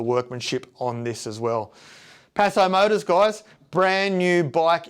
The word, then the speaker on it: Paso: It's not peso, it's paso, paso, paso, paso. And it's actually a style of rare horse.